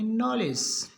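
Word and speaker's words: knowledge: जी ई इसको पढ़ेंगे नॉलेज तो के का उच्चारण नहीं होगा एन का होगा नॉलेज के एन सी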